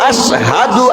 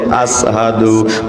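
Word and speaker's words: أشهد: বিলালকে Umayya যখন নির্যাতন করেছিল, জিহ্বাটা পুড়ে ফেলেছিল, জিহ্বা পড়ার কারণে বিলাল আযান দিত, আশহাদু আল্লা ইলাহা ইল্লাল্লাহ বলতো ঠিকই আশহাদু, কিন্তু হয়ে যাইতো আসহাদু, মানে সিনের জায়গায় সিন উচ্চারণ হয়ে যেত।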